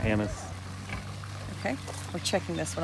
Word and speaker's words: Hyannis: Hyannis. Hyannis, yes. We've been saying other words that aren't appropriate. We're getting better. How do these people say this word? Hyannis. We're going with anise. Right? Hyannis.